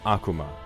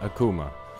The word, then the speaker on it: Akuma: So, my name is Vox Akuma, not Akuma. I pronounce it wrong myself sometimes, although you're welcome to pronounce it whichever way you'd like.